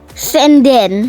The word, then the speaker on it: Sanden: Sanden atau Sanden ini dibacanya ya? Senden.